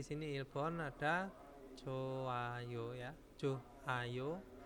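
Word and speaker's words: 좋아요: Nah, contohnya di sini Ilbon ada joayo ya, joayo bacanya ya joayo, hanya dihilangkan ya Yorobun.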